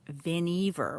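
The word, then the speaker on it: Vannevar: has the same it's viniver which took me forever I said that wrong but no this is like it rhymes with Beaver that's how you it's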